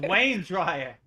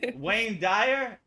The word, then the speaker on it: Wayne Dyer: It's Wayne Dryer. Wayne. Man, I'm all messed up. I got his first name wrong and his last name. Yeah, Wayne Dryer. Wayne Dryer. Yeah. Wayne Dyer.